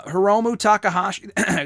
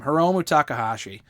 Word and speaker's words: Hiromu Takahashi: or toriano and dan hausen for example uh hiromu takahashi that's how you pronounce his name hiromu takahashi he's fantastic i would love for him to